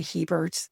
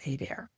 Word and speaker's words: Hébert: They just say Heberts. It's funny cuz most people say Herberts. They insert an extra R. But Gerard is from French-Canadian roots, and it is French, and it is pronounced Hébert.